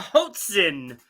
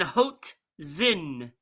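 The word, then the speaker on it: hoatzin: go with one more uh how about a Hoten Hoten hen how do you spell it HOA t z i n hot Zen Hoten let's go animal all right animal says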